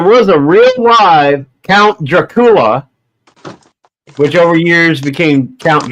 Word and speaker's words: Dracula: His last name was Dracula, not Dracula, like everybody pronounces today.